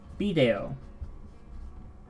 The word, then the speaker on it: video: It says here, the Spanish word for video can be pronounced with the stress on the I or the E.